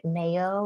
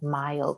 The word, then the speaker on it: Mayo: Mayo is pronounced just like you pronounce mayonnaise, but so often people don't say Mayo Clinic, they say something like Mayo Clinic.